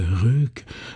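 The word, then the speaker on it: Ryck: navigable de son fleuve alors le fleuve s'écrit le le RIC r yck donc je pense qu'en allemand c'est comme l'île de de Zul qui s'écrit sy yl t je pense qu'il faut dire le RUC l'ancienne ville anéatique était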